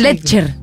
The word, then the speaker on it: Letcher: de Hernán lechner no Cómo se dice Hernán lecher le Sí así lecher lecher más sencillo que director